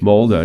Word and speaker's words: Molde: Norwegian team, Modell. You told me before this was Haaland's first team that he came up with, correct? How do you say that name? Molde, I think. Molde, yeah.